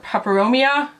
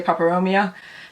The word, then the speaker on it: peperomia: This is my little watermelon peperomia, or peperomia. I've heard it's pronounced both ways. I say peperomia.